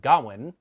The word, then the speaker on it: Gawain: although in this movie his name is pronounced gowan does that mean i've